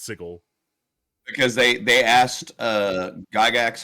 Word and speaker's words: sigil: It's not sigil, it's sigil.